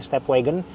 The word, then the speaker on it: Stepwgn: Step wagon disingkat WGN-nya. Harusnya kan W A G O N. Ini emang stepwagon wagon gitu bacanya.